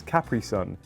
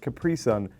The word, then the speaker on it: Capri Sun: We pronounce this Capri Sun, you pronounce it Capri Sun, you're putting the emphasis on the completely wrong part of the word, get it right.